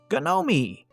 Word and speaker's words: Ga-nomee: "How do you spell that?" "Why, yes," Ga-nomee answered. "Ga-nomee, G-N-O-M-E.